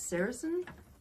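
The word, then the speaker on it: sericin: um some of the I believe the pronunciation is saracen um on it a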